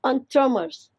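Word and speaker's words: entremetier: all soups the eltromers it's pronounced as on tremors it's again a french word which means vegetable cooks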